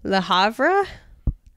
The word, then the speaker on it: Le Havre: somewhere in France that I'm going to mispronounce. Le Havre?